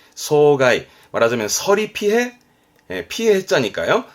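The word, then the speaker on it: 霜害: 상해라고 해서 발음은 소가이, 소가이. 말하자면 서리 피해, 피해 해자니까요. 서리 피해를 상해, 소가이, 소가이.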